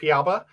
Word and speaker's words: Piaba: Yep, Piaba.